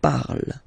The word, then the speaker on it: parle: ending e, and then the way to pronounce it is je parle, parle. So remember, we put it, okay, but then we don't really pronounce it.